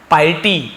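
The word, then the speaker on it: piety: खाना वह होता है बट यहां पे स्पेलिंग देखिए अलग है यह आपका है पाइटी इसे हम पाइटी पढ़ेंगे लिख लीजिए इसका मीनिंग भी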